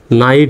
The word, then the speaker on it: night: শেষে যদি IGHT থাকে, শব্দের শেষে যদি IGHT থাকে তার উচ্চারণ হবে আইট, এরকম। যেমন এই শব্দ দেখেন, শব্দটার শেষে IGHT আছে না, IGHT, তাহলে NIGHT কি হবে? নাইট উচ্চারণ হবে, NIGHT, নাইট।